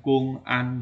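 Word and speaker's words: 公安: ya itu kita sebutnya kungan Makanya kalau di Tiongkok itu e mobilmobil polisi itu tulisannya bukan Cing Cha melainkan Kung an ya Kung an bacanya kungan nah tapi profesinya adalah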